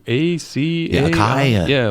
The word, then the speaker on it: acai: Yeah, acai. Yeah, like Jimmy Fallon just had a tweet. It's like the shortest word ever for the most syllables.